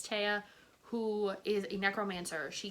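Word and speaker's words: Tea: about a girl who named Tia or Tia. It's spelled T-E-A. There's like a accent mark over the A, so I think it's Tia, who is a necromancer.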